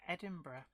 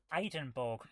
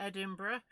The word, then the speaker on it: Edinburgh: just come back from edinburgh oh eidenborg as some people who don't know how to pronounce it would say okay it